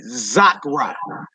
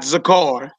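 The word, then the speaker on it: זכרה: at the top row, you see Zakra, not Zakar, Zakra, because the hey is at the end of it.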